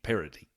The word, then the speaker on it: parity: part of the country we call it with a d parody I know it's spelled with a t but this a I